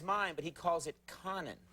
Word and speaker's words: Conan: same name as mine but he calls it Conan it's this guy right here his name is